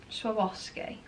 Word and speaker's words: Swarovski: Sabarsky thought you say it's the boss cake it's learn how to say it Swarovski so Wolski and but anyway